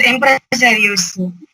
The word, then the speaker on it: Empresarios: Would somebody able to pronounce it and explain what the word means? Sir, it is empresarios.